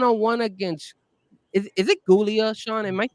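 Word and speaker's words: Giulia: against is is it gulia Sean am I saying Julia is it gulia or Julia Julia Julia it's basically like Julia Hart but it's spelled differently okay so we so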